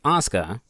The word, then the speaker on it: Asuka: Claude to her friend isuka which technically should be pronounced as Asuka but to keep continuity with the game I'm going to pronounce it how they do she leads the Yakuza